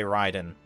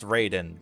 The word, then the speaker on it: Raiden: specific when you say ryden metal gear ryden oh my god when the hell did sonic the hedgehog become good the only good ryden well the other one is pronounced raiden so and his